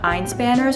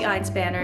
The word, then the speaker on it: Einspanner: I think it's Einspanner. Einspanner? But I feel like I'll just make more of a fool of myself trying to pronounce it the German way because it is German.